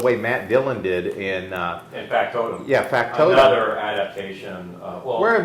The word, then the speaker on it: Factotum: Because in is it Factotum? Is that how you say it? Yeah, Factotum.